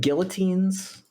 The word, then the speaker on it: guillotine: good do we have Guillotines already maybe we do gutin Guillotines guillotines sad maybe s maybe you don't pronounce the L's but I do aren't you from a French Place gu it's Guillotine it